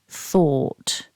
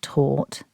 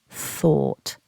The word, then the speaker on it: thought: so first of all make sure you stick your tongue out for that th because if you don't you might say the word taut by mistake and what we're aiming for is thought also don't be tricked